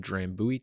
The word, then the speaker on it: Drambuie: of the shared malted barley base spirit, and that's spelled D-R-A-M B-U-I-E, drambuie.